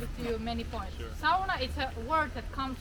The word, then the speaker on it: sauna: to pronounce it as sauna right not correct we in finland we pronounce all of the letters very well so the sauna we don't pronounce sona we say sauna sounds good if you